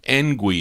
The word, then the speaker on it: Ngui: Ngui is how it's pronounced.